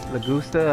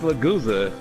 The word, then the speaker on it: Lagusa: And it stars Angelo Lagusta, I believe it's Lagusa. Lagusa. Don't try to correct my pronunciation because you saw it Japanese. It's English. That's how you pronounce it. It's Lagusa.